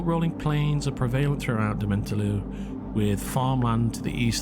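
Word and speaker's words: Dementlieu: This is the French sound "you," but with an I in front. One syllable for that whole damn thing. Le. By the way, this word is pronounced the same for French as or Quebec French. Quebecois is a different beast, like you say, but "lu" is not an example of that.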